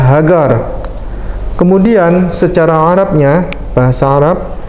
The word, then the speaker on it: Hagar: ini adalah huruf ibraninya He ini gmail sama Res Bacanya adalah hagar kemudian secara Arabnya bahasa